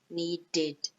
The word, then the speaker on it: needed: So we do add a syllable in this case, okay, and we pronounce it id, okay, not ed, id, okay, so wanted, needed, hated, okay.